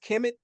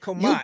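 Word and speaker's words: Kmt: um now yes sir you say is not pronounced kemit kumat in pronounced kumat your Afric say okay no understand understand no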